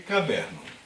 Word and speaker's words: caderno: E eu pergunto para você, qual é a sílaba tônica? Você vai chamar a palavra. Caderno. Quando eu falo isso, a minha sílaba tônica é o der. Não é a última, é a penúltima.